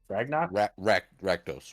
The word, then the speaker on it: Rakdos: Was it Ragnox? Rakdos. Rakdos. Rakdos.